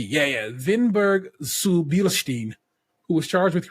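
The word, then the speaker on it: Winneburg: of the metrich vinberg No No it's it's a W's pronounce with a V yeah yeah vinberg suin who was charged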